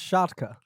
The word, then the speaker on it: Szczotka: It's pronounced Szczotka. Szczotka. Yeah. That's why we call him Shotgun. Szczotka. Szczotka. Szczotka.